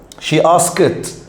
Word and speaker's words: asked: she asked خلي بالك ask الماضي منها asked ولما تتنطق بتنطق زي حرف التي.